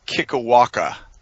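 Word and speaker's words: Kikiwaka: a summer camp uh camp kickawaka that's correct it's not kiki it's kiwaka it's it's not it's not as hawaiian as you're making it maybe not doesn't really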